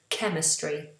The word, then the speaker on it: chemistry: But then sometimes ch is pronounced k, like a k. For example, in the words choir, which is a group of singers together, choir, and chemistry.